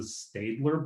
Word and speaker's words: Staedtler: The brand that we sell at Michael's is the Staedtler brand.